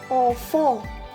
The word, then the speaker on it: enfant: So E is which have a word enfant.